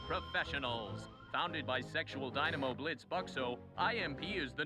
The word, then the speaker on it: Blitzø: Founded by sexual dynamo Blitzø, IMP is the #1... Hang on. Surely the O is silent. He put the thing through it, so it's Blitzbucks, right? It's not Blitz...